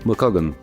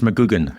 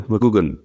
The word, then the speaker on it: McGugan: I am Pauline Pup, an infoq editor and I have in front of me mug if I pronounce it correctly. Not quite. It's Mcugan. It's like double O.